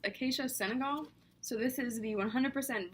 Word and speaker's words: Acacia senegal: okay so I just checked and it's pronounced acacia Senegal so this is the 100% virgin coconut oil